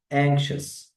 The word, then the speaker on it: anxious: أول كلمة معانا اسمها anxious. anxious، وطبعا الشين جت منين؟ من حرف الإكس. الإكس بنطق صوتين، كاف وسين.